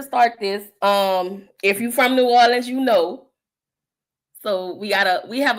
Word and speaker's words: New Orleans: It ain't Nolans. It ain't New Orleans. It's New Orleans. It just flows off the tongue real easy.